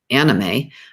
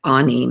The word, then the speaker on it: anime: pronouncing it incorrectly i was always calling it anime but it's actually pronounced anime a-h-k-n-e-e-m-a-y and it's abbreviation for anything to do